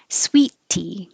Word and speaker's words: sweet tea: Sweet tea. You don't make two T's. You hold your tongue for the first T.